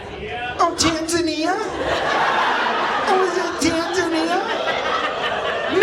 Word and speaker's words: Tanzania: It's Tanzania. It's Tanzania. I only know I know you're like, "Oh, the fat kid thinks it rhymes with lasagna."